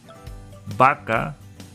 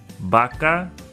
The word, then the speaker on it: vaca: The consonant V has the same sound as the B. Vaca, vacaciones, vemos. Vaca, vacaciones, vemos.